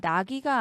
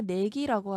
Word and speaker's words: 내기: 자, 나기가 아니라 내기라고 하죠.